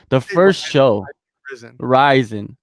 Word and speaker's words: RIZIN: like the first show risin risin is the proper way to pronounce it a lot of people say risen and you know let